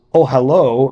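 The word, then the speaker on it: אהלה: comments on the word ohalo uh the word ohal means uh tent so ohalo means his tent which is pronounced consistent with its usual spelling as if the last letter were the letter VAV in Hebrew the masculine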